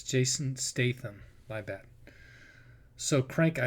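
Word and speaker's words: Jason Statham: Also, Crank and Let me stop it so I pronounce that guy's name right. Okay, so it's Jason Staithm.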